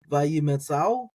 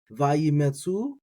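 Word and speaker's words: וַיִּמְצְאוּ: So when you have the aleph followed by the vav like this, when you got that oo there, so you got the aleph oo, it's like an ow. So you can do oo, or at the speed of speech, ow. So vayimetzao, or if you leave the aleph silent, vayimetzu, and that's fine.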